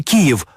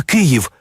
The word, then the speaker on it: Київ: назви згідно з цим не Київ а Київ не Харков а Харків не